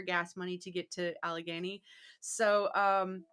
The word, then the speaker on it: Allegheny: money to get to Allegheny. So did I pronounce that right? Allegheny. Yeah, that's pretty much. I think that's how Dietrich Strauss says it.